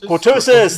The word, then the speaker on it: cortosis: with the with the ctis qutis I can't pronounce it CIS cortosis thank you cortosis thank you uh as as